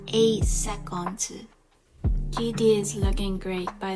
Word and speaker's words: 8 seconds: In the brand 8 seconds, we'll notice that if the letter S is in the end of a word, we'll always pronounce it as Z. 8 seconds, 8 seconds.